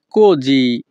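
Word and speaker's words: così: পেরকে সেই কোজি। যখনই আমরা ইতালিয়ান ভাষায় কাউকে বলতে চাইব তুমি এমন কেন, তখন আমাদেরকে বলতে হবে পেরকে সেই কোজি। এখানে SI এর উচ্চারণ হবে জি।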